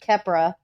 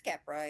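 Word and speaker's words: Keppra: Kepra. It's Capra, yeah.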